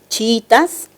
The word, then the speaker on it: chiítas: algo de los chiítas la palabra chiítas presenta un hiato simple verdad dos vocales cerradas iguales pero la sílaba tónica es la segunda y eso quiere decir que la palabra se entiende como grave una grave que termine